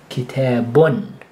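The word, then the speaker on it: كتابٌ: two oos together, and the sound will be kitabun. So you hear that N sound at the end, that's because of the effect of these double dhamma.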